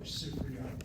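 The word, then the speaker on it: סִפְרִיָּה: The word for library in Hebrew, Sifriya.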